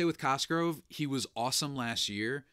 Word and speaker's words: Cosgrove: I will say with Cosgrove, he was awesome last year. He has a name that rhymes with Musgrove, so I appreciate that.